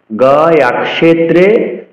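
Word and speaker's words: গয়াক্ষেত্রে: ক্ষে কিয়র উচ্চারণ ক্ষ করতে হবে, গয়া ক্ষেত্রে বলা যাবে না। গয়া ক্ষেত্রে গয়েশ্বরী।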